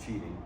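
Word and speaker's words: Qidi: The Cheedy, I have a Cheedy Plus 4 QID, I pronounce it Cheedy.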